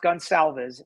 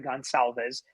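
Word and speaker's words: Gonçalves: case so all right somebody's told me it's pronounced gun salves sorry gonzalves um but he's right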